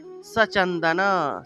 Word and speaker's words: সচন্দন: ওম এষ সচন্দন, সচন্দন, স উচ্চারণ করতে হবে, দন্তস্বর উচ্চারণ হলো স, আমরা স বললে হবে না, স বলতে হবে।